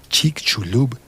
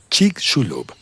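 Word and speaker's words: Chicxulub: una breve pausa y volvemos a hablar de Chik Chulub y del turismo científico. Chicul y al fin voy a explicar cómo se escribe. C H I C. X U L U Bul Chik Shulub y población que ha vivido cerca del cráter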